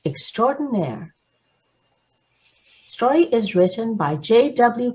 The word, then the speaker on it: extraordinaire: nair extraordinary and it means outstanding and it's pronounced extraordinaire story is written by j.w cola and illustrated